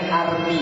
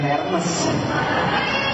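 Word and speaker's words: Hermès: masih pakai barang KW bacanya Armi bukan Hermes arm itu bahasa loh Kok bahasanya tulisan heros B ya itulah bahasa Prancis itu Bahasanya munafik tulisan sama bahasanya beda enggak enggak kita enggak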